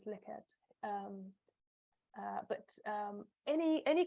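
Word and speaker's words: Likert: all a kind of licket scale uh I'll mention that later as well quite often um mispronounces like it but it's actually um I believe a Dutch uh scientist called Ren's liqued um but um any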